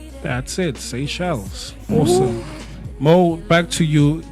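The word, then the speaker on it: Seychelles: Say shells.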